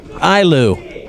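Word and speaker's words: Eylau: But speaking of this team, Liberty Ilau, is that how you pronounce it? Ilu.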